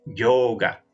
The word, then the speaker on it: yoga: lo cierto es que debería decirse el yoga lado en sánscrito siempre es un sonido largo entonces es yoga yoga yoga y el acento siempre acá en la primera sílaba en el caso de palabras con dos sílabas yoga yoga significa unión